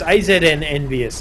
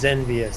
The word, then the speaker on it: AZN Envious: It's AZN Envious. I was saying it's Zenvious.